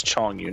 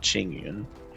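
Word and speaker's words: Chongyun: And also, it's Chong Yu, not Ching Yun.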